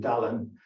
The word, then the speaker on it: Dylan: the kids in school because they pronounced it the correct way would call him dalan and he would be the dull one and so she but